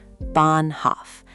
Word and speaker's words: Bahnhof: Bahnhof, train station, long A. because of that H after it. Bahnhof. The H is silent, but it's a flag saying hold the vowel.